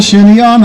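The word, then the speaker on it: chignon: in that day and pronounced the word shinon because he's an Irishman from countries and he doesn't know any better but you and I would pronounce it Shino right the French hairstyle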